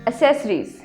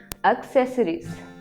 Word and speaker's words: accessories: मैंने बहुत सारी शॉप्स पे लिखे देखा है मोबाइल एसेसरीज. क्या लिखा देखा है? Mobile एसेसरीज. और आमतौर पे लोग इस वर्ड को यूज ही एसेसरीज करते हैं. But the correct pronunciation is accessories.